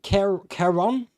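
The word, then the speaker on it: Ciarán: It's pronounced Keron, something like that. It's got a little umlaut thing or whatever they call it, an accent above the A.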